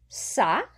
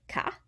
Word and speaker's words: ça: Ça has the cedilla, so we would say ça instead of ca.